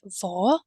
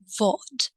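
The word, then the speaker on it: vad: what happens then that they ignore some sounds so in this case it's the letter D now let's come back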